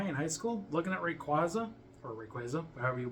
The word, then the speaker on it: Rayquaza: Until I watched the Destiny Deoxys movie and they called it Rayquaza. And I was like, oh, that's how you say it.